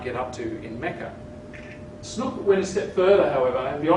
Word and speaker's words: Snouck: Now, it was for such reasons that a young Dutch scholar with a horrible name, Christian Snouck Hurgronje, just known as Snouck, rhymes with book.